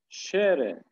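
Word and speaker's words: Schere: der radir gumi ve di şere di şere burada s c h ş olarak okuyoruz ş makas Evet diğerlerinin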